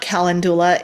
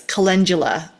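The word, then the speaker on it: calendula: You may have also heard me say kalandoula. It's not kalandulla, it's kundula.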